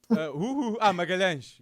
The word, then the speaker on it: Magalhães: Magalhães. Gabriel Magalhães. Yeah. Magalhães.